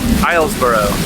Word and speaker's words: Islesboro: uh island of ireland how do you pronounce the word milesboro hilesboro or we're gonna duck up on the island of islesboro how do you